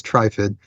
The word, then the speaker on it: Trifid: That's how you're supposed to pronounce it, is Trifid.